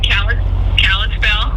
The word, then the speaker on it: Kalispell: You're in Kalispell?